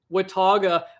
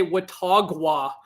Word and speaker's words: Watauga: it sounded instead uh instead of saying watauga i used to say watagwa and i think before